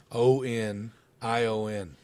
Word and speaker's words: onion: how do you win o-n-i-o-n onion there's no G in the word onion who said it with a G listen to Casey say